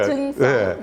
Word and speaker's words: 부증성: 아 이 경상도 사투리 우리가 부증성. 네. 살발음이 안 됩니다.